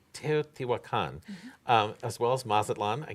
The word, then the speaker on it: Teotihuacan: Teotihuacan. Teotihuacan, as well as Mazatlan, I can get that one, and Mexico City.